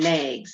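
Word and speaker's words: Knaggs: french ackly shepherd and maggs that's spelled with a k k-n-a-g-s so how did these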